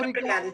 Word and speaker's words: obrigada: Okay, sister, what I have to say to that is obrigada. Or is it obrigado? You said it right, obrigada, Renata.